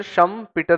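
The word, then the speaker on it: Schumpeter: आएगा यह किसने बोला शम क्या स्पेलिंग है scum S सी एच यू एम पी ई टी ई R mister शम पीटर ने यह बोला कि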